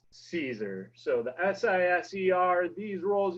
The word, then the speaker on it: Siser: first lesson always is how to properly pronounce Siser. So the S-I-S-E-R, these rolls you see in your Michael's stores or Michael's online website, that is pronounced Siser.